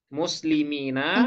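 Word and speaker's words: مسلمين: Kalau yaknya sukun, kemudian sesudahnya kasroh, nah itu musanna, Bu. Nah, Tapi kalau yang Ina, sesudah yaknya fathah, nah berarti itu jamak mudzakkar salim. Nah, jadi hati-hati cara bacanya ya.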